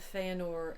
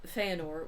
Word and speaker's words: Fëanor: um mother calls him fanor which I'm also conected in in this episode because I don't know how to say the names according two tolken pronunciation guide e are pronounced as in were so I'm trying to